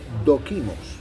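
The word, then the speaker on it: δόκιμος: Entonces, la palabra eh eh aprobado, la palabra aprobado en el griego es doquimos.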